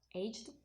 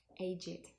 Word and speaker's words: aged: And another example, aged, if it's a verb, aged, and if it's an adjective, it would be with id, aged. And also it's important to